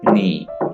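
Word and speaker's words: knee: नी, घुटना, नी, यहाँ पे के साइलेंट है, नी आपने इसे पढ़ना है, नी।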